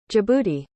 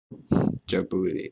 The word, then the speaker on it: Djibouti: Tunisia, Morocco, Uganda, Angola, Zimbabwe, Djibouti, how do you say that? And Botswana. Oh. Country in East Africa. Pronunciation, there you go. Djibouti. Djibouti.